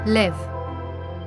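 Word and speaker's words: לב: The Hebrew word, which is glowing in this picture, pronounced as LEV, emphasizes that the heart is more than a physical organ.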